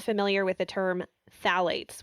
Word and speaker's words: phthalates: So for those who are not familiar with the term phthalates, which phthalates doesn't begin with a T, by the way, it begins with a P.